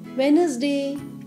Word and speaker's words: Wednesday: s d a y wednesday here we are pronouncing wednesday d is silent here fifth day of